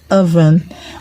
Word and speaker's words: oven: Oven, O in oven, OVEN. The O in oven is pronounced R.